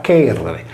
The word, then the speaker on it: Cerere: A detta di Pseudo-Apollodoro, perciò, gli egizi associarono Iside a Cerere, pronunciata Cherere, la divinità del frumento.